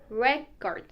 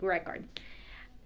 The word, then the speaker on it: record: As a noun, it is record, stress on the first syllable, as in I bought a music record.